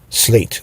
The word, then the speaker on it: SLAEGT: this is what you get slate and slate is spelled s l a e g t slate so you guys can find them on social